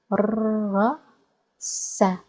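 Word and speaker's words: دَرَسَ: That's why we will pronounce sin with a vowel, with fatha, because it's a verb, not a noun. Let's give it a try. So, درس درس درس.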